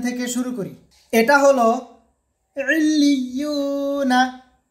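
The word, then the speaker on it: عِلِّيُّونَ: এটা হলো ইলিয়ুনা, ইলিয়ুনা বানান করলে হবে আইন লাম জের ইল লাম ইয়া জের লি ইলি ইয়া ওয়াও পেশ ইউ ইলিয়ু নুন জবর না ইলিয়ুনা ইলিয়ুনা।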